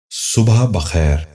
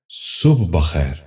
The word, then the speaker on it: صبح بخیر: غور سے سنیے، صادق۔ دوسرا لفظ ہے صبح بخیر۔ یہ غلط تلفظ ہے، درست تلفظ ہے صبح بخیر۔ دوبارہ سنیے، صبح بخیر۔ بچوں آپ بھی غور